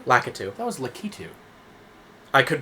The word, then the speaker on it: Lakitu: route through this course this is his name pronounced lakitu lakatu that was lakitu i could be completely wrong